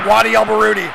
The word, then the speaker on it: Wadi El Baroudi: Say it right, it's Wadi El Baroudi.